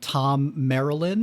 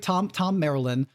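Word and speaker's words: Thom Merrilin: Gleeman showing up, named Tom Marilyn, whose name you would probably not know from the spelling because it looks like Thom or Thome or something. But officially, I think Tom Marilyn, who is this sort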